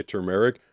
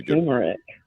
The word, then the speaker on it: turmeric: Turmeric. Like tumor. Oh, really? Isn't there an R in there? I thought there was an R. I thought it was tur turmeric.